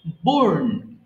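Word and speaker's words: borne: করা bear বোর বোর্ন আচ্ছা এটা কিন্তু বোর্ডই হবে না ই কিন্তু বলা যাবে না হ্যাঁ এটা আমরা সিম্পলি বলবো বোর্ন এরপর বলো কুক রান্না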